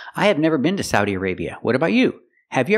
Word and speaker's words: Saudi Arabia: a sa Saudi Arabia the second syllable a use the long a like pay and say aray Arabia again Saudi Arabia the country is called Saudi Arabia let's practice I have